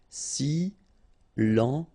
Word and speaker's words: silencieux: Final X not pronounced, okay? This part here will be pronounced like cieux, okay? Then you get silencieux.